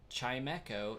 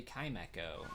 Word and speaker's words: Chimecho: Like, no, it's literally Chime and Echo put together, and I still failed to pronounce it correctly initially, and so now it's just stuck there.